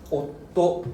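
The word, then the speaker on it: おっと: And you can hear I hold back my breath a little bit.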